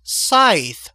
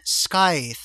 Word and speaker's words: Scythe: It's pronounced Scythe, not Sky.